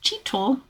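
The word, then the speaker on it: chital: Uh, Chel deer, oh, pronounced chille, like to hang around gray langanger monkeys because the langers often drop fruit that the deer feed on.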